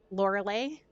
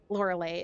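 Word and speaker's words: Lorelei: drow oh this time a woman laura lay l-o-r-e-l-e-i and like beyonce laura lay is her her name that is what she that's what she go by beyonce is her name laura lay is her name fire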